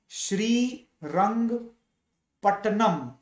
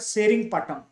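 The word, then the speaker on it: Srirangapatna: Treaty of श्री रंगपट्टनम. This is the Indian pronunciation. British pronounce that सेरिंगपट्टनम, right?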